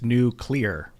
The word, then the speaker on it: nuclear: hate that yeah huh it's new clear new clear that's pronounced Kaiser C